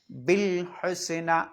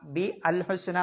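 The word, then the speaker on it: بالحسنى: പിന്നെ ശ്രദ്ധിക്കാനുള്ളത് വകദ്ദബ ബിൽ ഹുസ്ന എന്ന് ശരിക്കും വ്യക്തമാക്കിയിട്ട് ഓതണം. ബാഗിൻ്റെ ശേഷം ഇതേപോലെ ഒരു അലിഫ് കാണാം, കൂട്ടി ഓതുമ്പോൾ അതിന് ഉച്ചാരണം ഉണ്ടാവില്ല. ബിൽ ഹുസ്ന, ബി അൽ ഹുസ്ന എന്ന് ഓതണ്ടെന്നർത്ഥം. പിന്നെ ഫസനുയസ്സിറുഹു ലിൽ യുസ്റാ, റാ.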